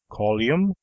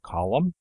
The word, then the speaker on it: column: speakers that we hear such slovenly articulations as colium for column and pretty for pretty